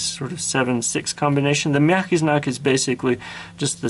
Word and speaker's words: мягкий знак: The next letter in the Russian or Cyrillic alphabet is мягкий знак. And like its twin твердый знак, which means hard sign, мягкий знак, and the g here is pronounced like a ch, мягкий знак.